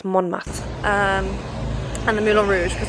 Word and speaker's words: Montmartre: Today I think I'm going to go to the Sacre and MontMartre area. 100% pronounced that wrong. It's MontMartre.